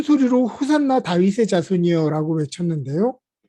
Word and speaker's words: 호산나: 백성들은 큰 소리로 호산나 다윗의 자손이여 라고 외쳤는데요. 이 호산나는 당신께 구하오니 우리를 구원하소서라는 뜻입니다. 히브리어 호시아나의 아람어식 발음으로서 초막절 의식에서 제사장들이 암송했던 시편 118편 5절에 등장하는 구절입니다.